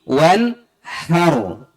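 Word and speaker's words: وَانْحَرْ: Berikutnya bunyi wanhar. Ha. Seringnya baca ha, padahal bunyinya ha. Beda ha dengan ha. Ha dari tenggorokan bagian bawah, ha bulat, ha hati,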